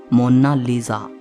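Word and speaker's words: Monna Lisa: लेकिन इटालियन में इसकी करेक्ट प्रोनाउंसिएशन है मोनालिसा।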